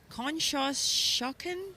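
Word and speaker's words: Conshohocken: bound number eight White Marsh boat club from Kos shocken Pennsylvania is that how you say that yes that is how you pronounce it our next boat we have in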